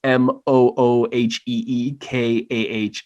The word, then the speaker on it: Mujica: It's all at Mujica, but it's my last name spelled phonetically because everyone always butchers it. So it's MOOHEEKAH at Mujica.